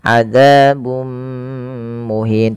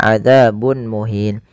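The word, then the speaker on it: عذاب مهين: bacaan Idgham bighhunnah yaitu cara membacanya memasukkan tanwinnya kepada mim dan ditahan adzabum muhin tidak dibaca adzabun muhin kemudian melafal muhin ada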